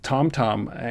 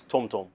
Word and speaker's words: TomTom: where TomTom is based I say TomTom like you but it's TomTom um so you have to say it properly otherwise you get in